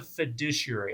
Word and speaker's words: fiduciary: Jesse what is a fiduciary a Thai douchey area I spelled it out phonetically there fiduciary um well it's a